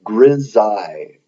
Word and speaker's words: grisaille: It's called grisaille. This is spelled Grisailles.